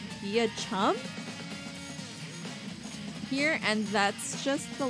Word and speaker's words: Beauchamp: Beauchamp is pronounced via chum here, and that's just the life we have to live.